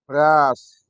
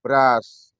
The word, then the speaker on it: brush: apa brus ditulis brus Bagaimana bacanya Apakah juga brus tidak Ternyata Bacanya adalah brus ditulis brus Ditulis brush apa brush ulang apa bras ya bras Apa artinya sikat jadi